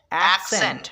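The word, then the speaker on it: accent: তো এই জিনিসটা খেয়াল করতে হবে, এসি এক, সি ই এন T Saint, অ্যাকসেন্ট মানে উচ্চারণ ভঙ্গি।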